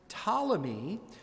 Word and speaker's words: Ptolemy: After Alexander's death, his kingdom was divided between two generals, Ptolemy, with a silent P, and Seleucus.